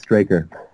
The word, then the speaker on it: Straker: We have to start it again, though, because it's Straker. Oh, You're really? You're close, yeah. Oh, I did not know that. That's okay. My bad entirely. It gets mispronounced so much, but I'm so used